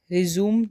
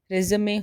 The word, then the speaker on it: resume: RESUME रिज्यूम नहीं होता है, रेज़मे होता है।